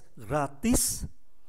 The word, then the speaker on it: gratis: nên biết đến chúng; Chúng ta phải phát âm chữ 's' trong từ gratis.